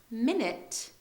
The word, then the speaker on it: minute: are not actually spelled this way they are spelled like what's written in Black okay be careful next one minute or minute first minute minute is a noun